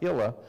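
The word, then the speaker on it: Hillia: message about Hilla and I think you spell it h-i-l-l-i-a but it's pronounced hila and that's Jerry's sister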